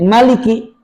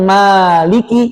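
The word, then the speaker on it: مالك: Kata Maliki itu tadi ada dua cara baca. Mim pendek, Maliki artinya raja. Mim panjang, Maliki yang merajai.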